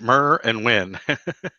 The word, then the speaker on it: Merwin: nerds and today I'm hanging out with Marwan and hopefully hopefully I'm not bushing your last name too badly it's pretty much like it spelled Murr and win I like it when things actually pronounced the way they are spelled I do